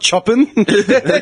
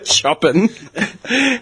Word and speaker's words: Chopin: Yeah, not Chopin. Chopin. Chopin. Yeah, I know chopping.